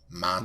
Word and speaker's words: matcha: flavors the mocha tea I keep saying mocha it's Machi Mach how do you say it matcha matcha um it's a very